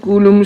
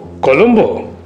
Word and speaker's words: কলম্বো: জান পানি হয়ে যে কুলুম শহরে পৌঁছলাম। আমি শুধালুম, সে আবার কোথায়? বললে, বাংলায় যারে লঙ্কা কয়। আমি বললুম, ও কলম্বো। জি, আমাদের উচ্চারণ তো আপনাদের মতো ঠিক হয় না, আমরা বলি কুলুম শহর।